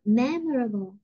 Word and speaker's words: memorable: Bây giờ mình đọc là memorable thì mình không có biết nhấn, đọc memorable, memorable. Mình phải nhấn cái âm đó cho quen nhé.